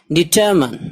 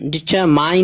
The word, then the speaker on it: determine: DETERMINE DETERMINE डिटरमन, डिटरमाइन नहीं पढ़ना इसको, माइन, डिटरमन इरादा करना, अज़्म करना।